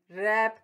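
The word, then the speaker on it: wrap: एपी रैप लपेटना शाबाश इसमें कौन सा फ्लैट सेटल है कि शाबाश आपने बिल्कुल सही पहचाना डब्लू जो है इसमें साइलेंट लैटर है रैप कहते हैं किसी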